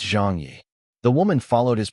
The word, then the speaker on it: Zhang Ye: Jeangi could understand English and so corrected her. It's Jang Yi.